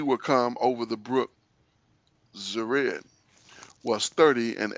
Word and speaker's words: Zered: Yeah, only one way to pronounce that, Zered.